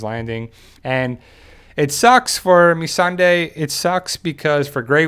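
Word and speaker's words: Missandei: it's kind of funny it's a great way to remember how to say her name though me Sunday so we'll see what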